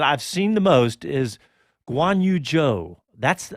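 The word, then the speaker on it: Zhou: seen the most is guan yu-jo that's that's how they're pronouncing the last name like j-o-e so we'll keep it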